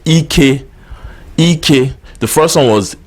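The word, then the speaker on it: ike: good the next word that we'll talk about is spelled e key a key a or in English language you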